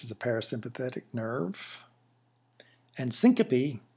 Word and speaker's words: syncope: a parasympathetic nerve and syncope is a three syllable word that means fainting vasovagal